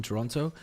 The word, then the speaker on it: Toronto: __ ] useless firstly let's stop pronouncing the second t Toronto okay so are we